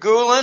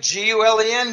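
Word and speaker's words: Gülen: poconos of Pennsylvania named Gulen or I don't know I don't care how you pronounce his name it sounds like it looks like gol en Gulen okay turkey is flipping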